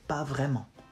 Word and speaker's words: pas vraiment: You say, pas vraiment. Pas vraiment. Pas vraiment. Pas vraiment. Pas vraiment. Not mon, ment.